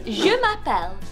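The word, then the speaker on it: je m'appelle: French well my name is in French is jumapel so I would say jumapel or you could say jumapel the gift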